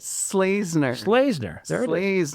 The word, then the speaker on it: Schlesener: Slazner. Slazner. There it is. Slazner.